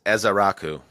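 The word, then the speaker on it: Ezeiruaku: said it right I did I looked it's ezar Raku yeah you get a guy like that or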